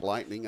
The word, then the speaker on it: lightening: And the track lightening up again, too. So I thought you said lightning for a second. Lightening. Lightning. There's an extra syllable in there.